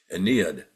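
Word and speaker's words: Ennead: know as the Aeneas, not Aeneas spelled with an A, but the Aeneas or the Aeneid, which is spelled with an E, E-N-N-E-A-D, Aeneid.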